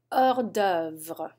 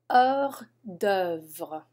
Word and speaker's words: hors d'œuvre: Hors d'œuvre. Hors d'œuvre.